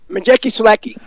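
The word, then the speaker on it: Maciej Sulęcki: Daniel Jacobs against I think how do you Masik Saluki? How do you pronounce his name? Majeki Selecki.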